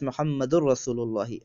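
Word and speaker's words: محمد رسول الله: So Muhammadun Rasulullahi, pronounced as Muhammadur Rasulullahi.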